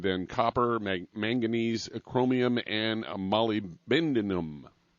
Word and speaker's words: molybdenum: And then there's selenium, and then copper, manganese, chromium, and molybdenum. Molybdenum. There. That's the right way to say it.